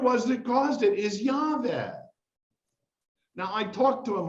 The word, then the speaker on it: Yahweh: Call me by my personal name, which is Yahweh." Yahweh is how you pronounce God's name. 4 Hebrew letters, Yod He Vav He. In Hebrew, names are definitions.